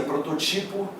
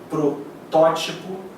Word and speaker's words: protótipo: A galera pronuncia prototipo, arquetipo, levedo. Não é. O certo é protótipo, ou seja, a sílaba tônica é a antepenúltima, portanto é proparoxítona e toda proparoxítona é acentuada.